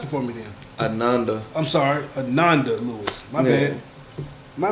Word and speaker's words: Ananda: teleision personality what you say her name was Adanda. Tell me what the right probably tell me. Pronounce it for me then. Ananda I'm sorry.